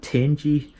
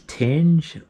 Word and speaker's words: Tange: pronunciation of this but i normally call it a 10g frame but i've heard people pronounce it as tange or tango which i think is the japanese pronunciation but don't quote me on that one size-wise of